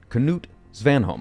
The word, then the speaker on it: Knut Svanholm: Knut Svanholm, I believe that is actually how you say his name. You actually do pronounce the K.